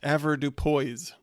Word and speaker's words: avoirdupois: So, I looked that up and apparently avoirdupois, which is a French set of words that they've all combined into one word, is actually pronounced avoirdupois.